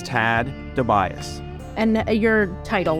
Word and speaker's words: Tad DeBias: Can you just say your name just so we have the correct pronunciation? Sure, it's Tad DeBias.